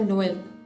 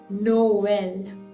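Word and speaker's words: Noël: all two vowels, and it generally separates the two vowels, rather pronouncing it as one two separate syllable, like Noel. You see, Noel. It is not pronounced as Noel. Noel.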